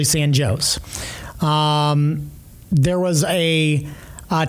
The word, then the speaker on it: San Jose: You would look at that as San Jose. It was actually San Joe's.